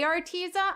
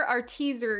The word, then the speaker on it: Arteza: then i want to ryan said if you're gonna say our teaser say it right okay if it makes brian feel any better when i say arteza i hear our teaser in my head and also i was